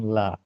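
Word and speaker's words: لا: Nah, sering ada yang mengucapkan, bukan sering, mungkin terkadang dijumpai di sebagian kita membacanya la. Nah, ini bukan la. La. Biarkan dia mengalir, kan jauh. Makhraj jaufi. Keluar. La. Gitu. Bukan la.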